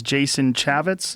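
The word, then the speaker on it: Jason Chaffetz: Well, the guy pulled it after the backlash and his name is Jason Chavitz.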